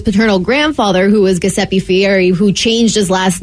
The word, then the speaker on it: Fieri: the United States and so then it's Italian so it's Fieri okay Fieri you know when you're rolling that's why it's Fieri because you know like in you know in in Spanish you roll those R's you kind of do